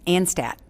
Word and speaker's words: Anstadt: a favor can we start with you correctly pronouncing your last name for me and Stat okay so get there and stats that's a